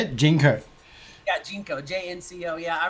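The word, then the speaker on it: JNCO: we talk about like old style when we've all lived through the Jinko era and we all wore Jinkos. Is that how you say it? Jinko.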